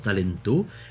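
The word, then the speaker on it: タレント: cela des talents temps ça s'écrit taranto mais ça se prononce talento ses dérivés du terme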